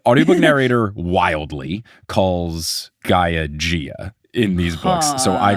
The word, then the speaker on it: Gaia: demigods cannot take down a being older than Gia herself. Have we got to the part? Have I told you how I called Gaia Gia? Because of the this is new. Audiobook narrator wildly calls Gaia Gia in these books.